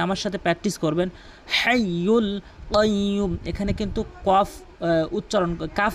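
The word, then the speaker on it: القيوم: হাইয়ুল কাইয়্যুম। এখানে কিন্তু কাফ উচ্চারণ করা যাবে না, এখানে কফ উচ্চারণ করতে হবে। আর কফটি হচ্ছে জিহ্বার গোড়া উপরে তালু থেকে উচ্চারণ হয় কাইয়্যুম।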